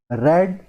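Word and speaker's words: read: रीड की तीनों forms की स्पेलिंग सेम रहती है, लेकिन जब इसे आप फर्स्ट फॉर्म रीड करोगे तो रीड, सेकंड फॉर्म और थर्ड फॉर्म में रेड प्रोनाउंस किया जाता है।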